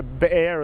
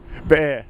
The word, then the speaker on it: Beer: so i think uh bear as some like to call him uh is a very good chance to come into the side not beer bear that's the israeli pronunciation excellent well look i